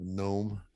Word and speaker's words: gnome: of a a gnome a g n o m that kind of gnome with a silent G gnome a gnome gnome